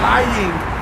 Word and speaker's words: lying: Lying. I gotta pronounce the G on that.